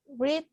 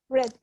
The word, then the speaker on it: read: I have read 4 books since last year. Okay, I have read. Read, yes. Remember, you write it exactly the same, but you pronounce it differently.